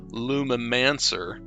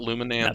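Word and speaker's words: Lumimancer: one let's do and i'm going to mispronounce this because it just does not roll off the tongue well it's clever lumen mancer not luminance that's bad not bad yeah i got it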